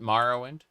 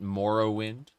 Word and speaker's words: Morrowind: Anyway, it really pisses people off when they hear me call it Marowind and not Morrowind, but uh in reality the NPCs in game will call it a variety of things.